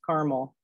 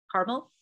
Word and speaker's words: caramel: Do you think red is two syllables or three syllables? That seems to be the majority of America. So I would say the majority says caramel. Caramel, all right.